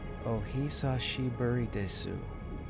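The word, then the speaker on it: お久しぶりです: How do So, so do you say it like is there a pause between any of the any of the um syllables or do you just say it straight out?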